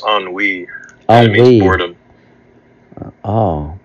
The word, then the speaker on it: ennui: I think it's ennui. Ennui. It means boredom. Oh, boredom. Okay. Ennui. So, yes, you're right. Which breed in them ennui rather than longing.